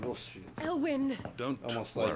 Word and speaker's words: Rosfield: R-O-S and then Field, But the he boy pronounces is it like also the Rosefield, Phoenix.